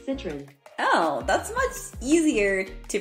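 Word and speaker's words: Citroën: okay I thought it was going to be citreon citro sit hold on I need help I I don't I've never heard of this card how to pronounce Citron oh Citron Citron oh that's much easier to pronounce than I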